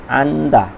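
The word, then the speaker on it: 앉다: খাক্কায় কমানো ইলগয় পড়ি আন্দা বসা আন্দা এখানে জিওতের উচ্চারণ হবে না আন্দা বসা সাংমন জানালা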